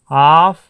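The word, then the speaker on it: half: में क्या कहते हैं, हाफ एन आवर। ध्यान दीजिए, इसको हाफ पढ़ेंगे जब भी एफ से जस्ट पहले एल आ गया है तो एल साइलेंट रहेगा, इसको हाफ पढ़ेंगे।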